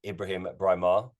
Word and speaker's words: Ibrahim Braimah: am joined by london-based entrepreneur and property manager Ibrahim breimar Ibrahim thank you for joining me today thank